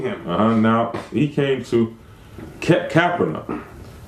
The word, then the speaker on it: Capernaum: now he came to Capernaum the correct pronunciation of that is khabar nahin there was a prophet